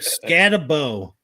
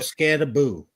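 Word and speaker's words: Skattebo: Like Scatabo calls himself Scataboo.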